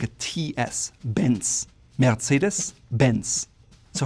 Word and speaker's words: Mercedes-Benz: That's at least the way Americans say it. Germans would call it Mercedes-Benz. Again, you hear there's that slight R from the throat that sometimes is quite silent, but it's there.